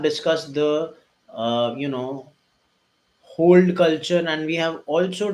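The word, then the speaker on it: HODL: how it's spelled u it might be pronounced as hold but it is written as h o dl what does hold means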